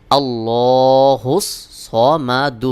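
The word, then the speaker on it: اللَّهُ الصَّمَدُ: এটাও সাকিন হয়ে যাবে সহি উচ্চারণ হলো আল্লাহুস সামাদ আল্লাহুস সামাদ আল্লাহুস সামাদ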